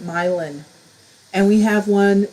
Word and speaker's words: Milan: In Michigan, we have a city spelled like Milan, but everyone calls it Milan.